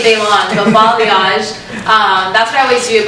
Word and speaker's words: balayage: I do like I always pronounce this wrong. Balayage? Balayage. I was like, I'm not gonna say it. But balayage. I always say balayage.